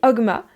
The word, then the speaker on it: Ogma: père de lewam et Ogma la mère prononce hogma parce que je le prononce pour que vous fassiez le lien donc le père de Lewa met Homa ou hogma si vous avez absolument envie de prononcer le jeu la mère